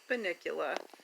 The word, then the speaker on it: Bunnicula: book series it was a book well it's pronounced Bunnicula when in doubt haha so anyway so we're